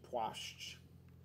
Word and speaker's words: płaszcz: I think it's płaszcz. I want to say it's płaszcz. Płaszcz. Płaszcz. Oi. Płaszcz. Coat. Płaszcz. Coat. That's one that sounds like chest.